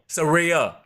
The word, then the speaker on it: Saraya: How do you pronounce the name? Saraya.